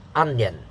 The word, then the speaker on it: onion: put them together okay so if you say then you put an extra syllable and it's wrong okay onion so example not everyone